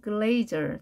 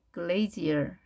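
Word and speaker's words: glazier: 뭐라고 할까요 우리말로는 영어로는 글레이저 또는 글레이즈얼 발음이 두 가지가 됩니다 글레이저 또는 글레이즈얼 유리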